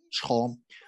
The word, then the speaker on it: 虫: The first hui in today's Chinese pronunciation, we pronounce it chong.